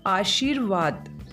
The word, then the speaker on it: आशीर्वाद: जब हम इसका उच्चारण करते हैं आशीर्वाद, तो यहाँ पर जो उच्चारण है वो बहुत महत्वपूर्ण है। उच्चारण की दृष्टि से शुद्ध शब्द होगा इस तरीके से, आ श बड़ी की मात्रा और फिर र का उच्चारण हुआ है, और र हमारा यहाँ पर रेफ र लगेगा जो शब्द के ऊपर लगता है।